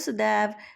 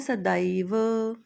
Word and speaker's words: सदैव: इसका यह उच्चारण जैसे आप सदैव लिखा होता है। आप बोलते हैं सदैव। संस्कृत में उसको बोलना है सदैव।